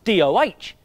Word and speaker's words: doh: It was spelled D-O-H, but pronounced DOH!